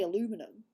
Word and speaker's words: aluminum: That's how we say it, aluminium. Listen, aluminium. You guys say aluminum. We say aluminium, which is a tongue twister.